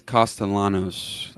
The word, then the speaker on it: Castellanos: watch of of Costa, is it Castellanos or Cost? I feel like people don't pronounce the L's almost like uh I don't know. Chase, do you have the proper pronunciation for me by chance? I think it's costalanos. That's what I've heard from some of the reporters. So, they do pronounce it.